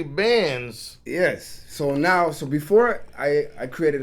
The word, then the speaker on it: Bands: Because I meant to even ask him on the show, is it Banks or Bands? But it's actually Bands.